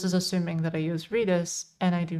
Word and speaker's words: Redis: First time you heard Redis read in an American accent. How do you normally, like, how do you pronounce it otherwise? I can't imagine it being called anything else. Radish? Okay, yeah, that makes sense. That makes sense. Yeah, we call it Redis, or at least I call it Redis.